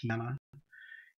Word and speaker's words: Tyana: okay how's it going uh good morning we're gonna do apollonius um that's apollonius of tiana or tyanna i think it's pronounced tina and um spell it for you that's a-p-o-l-l-o-n-i-u-s apollonius of tiana t-y-a-n-a and this is antiquity unveiled page 17.